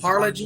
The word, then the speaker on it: Harlingen: Harlingen? Is that correct? Yes, Harlingen, Harlingen.